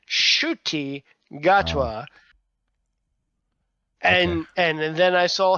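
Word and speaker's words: Ncuti Gatwa: she was like well at first she said in couti and she found out that it's pronounced shy gatwa and and then I saw him on the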